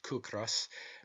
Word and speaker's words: ciocras: Such, for instance, are the Irish words ciocras, pronounced kukras, meaning hunger, and the word kis, pronounced kis, meaning rent.